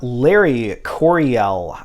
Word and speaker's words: Larry Coryell: happens with that all right next we have Larry Coryell I believe that's how you pronounce his name and it is introducing the